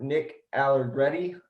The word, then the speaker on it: Nick Allegretti: Left guard, Nick Allegretti, I believe is how you say his name.